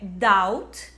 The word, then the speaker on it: doubt: A gente tem ali a letra B, que simplesmente não é pronunciada. Então, a primeira palavra é doubt, que significa dúvida.